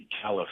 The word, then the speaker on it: Calaf: Is it pronounced Calaf? Calaf, yeah. Calaf.